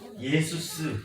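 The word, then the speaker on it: Ἰησοῦς: 당시 예수는 그리스어로 예수스 이렇게 발음하게 됐다고 합니다.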